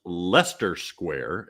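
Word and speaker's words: Leicester Square: from the bar uh he says it's pronounced Lester Square it's from the song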